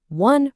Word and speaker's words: one: But how do you say it? You say one rupee note. That W sound is a consonant.